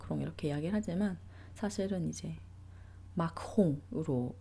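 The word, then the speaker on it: Macron: 우리가 이제 프랑스 대통령인 마크롱도 이제 한국 언론이나 뭐 한국에서 마크롱 이렇게 이야기를 하지만 사실은 이제 마크홍으로 발음이 되고요.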